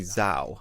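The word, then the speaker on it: Zhao: season it's directed by chloe zao i believe it pronounces z-h-a-o who she directed a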